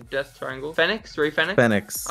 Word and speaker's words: Fénix: Fénix. I've always heard it pronounced Phoenix. I don't know why. Fénix.